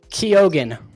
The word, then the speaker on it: Keoghan: Keoghan.